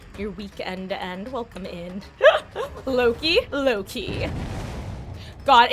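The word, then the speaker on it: LowKey: Loki.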